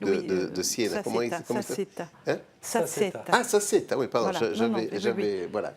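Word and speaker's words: Sassetta: Saceta. Ah, Saceta, oui, pardon. Voilà, Saceta. Oui. Ensuite. Prononcé à l'italienne, bon.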